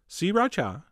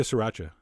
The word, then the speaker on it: sriracha: the same amount of sriracha, which is how I've been told to pronounce it. 3 distinct syllables, sriracha. Although, you know what? That sounds kind of weird. I'm going back to sriracha.